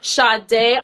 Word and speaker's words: Sadé: in I am with the one and only shade a did I pronounce that right girl yeah you did yeah